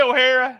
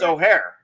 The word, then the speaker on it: O'Hare: Ohara did I say O'Hara you did say O'Hara Scarlet well you it's O'Hare ohare Airport not O'Hara not Scarlet O'Hara Airport